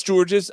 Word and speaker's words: Georges: If it's George's, I'm just nothing but an American. Oh my God. I'm just a pubic hair wig. Yeah, but it's George Niang though. The S is silent.